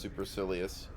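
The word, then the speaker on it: supercilious: It is pronounced superilious.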